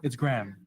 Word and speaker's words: graham: it's graham. It's graham. Graham. Yeah, like GRAM, but Oh, just- okay. yeah, it's just not So graham. the H is silent.